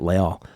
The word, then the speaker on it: Leal: It's not like Justin Leal or Leal. That's actually how you say it, Leal.